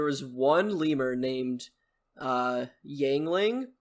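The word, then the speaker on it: Yuengling: lemur named uh yangling spelled like the beer it's Yingling you know what beer is you ever had are you old enough they pronounced I remember them pronouncing it yangling but I I could be completely wrong I don't know if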